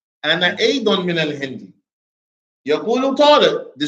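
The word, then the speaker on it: أيضًا: So you should definitely pronounce the tanween in Adon. Okay. You should definitely pronounce the tanween in Adon, except in the event when it occurs at the end of the sentence. When it occurs at the end of the sentence, then you remove it.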